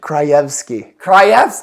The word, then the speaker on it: Krajewski: It's Krejewski. No. I know how to spell it. I think it's Kra. Krejewski. Krajewski. Or you could say Krajewski, which would be wrong, or whatever you said.